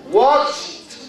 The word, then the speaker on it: watched: How many syllables does the word watched have? No. How many syllables? Watched. One. Because this ED becomes T. So how many vowel sounds do we have in the word? One. A. Watched. One syllable.